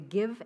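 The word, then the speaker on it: Gyve: In addition to checks and cash, you can download the Give app, pronounced give, but spelled G-Y-V-E.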